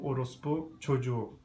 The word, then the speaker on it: Orospu Çocuğu: Also richtig ausgesprochen, Orospu Çocuğu.